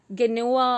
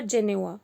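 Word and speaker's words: Geneva: We also call it एज गेनेवा और जेनेवा, तो आपको जो प्रोनाउंस करना है यू कैन सी दैट।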